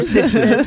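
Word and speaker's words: Sistahs: Oh, Sisters. But it's spelled AHS at the end, not Sisters.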